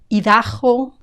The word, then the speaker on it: Idaho: Idaho, Idaho, Idaho. This is another tricky one. You'll hear Idaho, Idaho, Idaho, but definitely with a strong G sound.